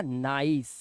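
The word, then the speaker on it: nice: मैंने आपको बताया है जब भी कोई इंग्लिश का वर्ड है जिसके लास्ट में ई हो तो उसका उच्चारण नहीं होता इसलिए यह निसी नहीं है यह सी नहीं है सिर्फ सा लगेगा लास्ट में यहां पर इसका साउंड हो जाएगा नाइस क्या हो जाएगा नाइस और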